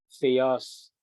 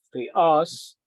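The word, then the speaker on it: θεός: siya sa ano sa Greek Hindi po siya theos hindi rin po siya theon kundi ang ah pronunciation niya is theos at saka yung accusative form ay theon okay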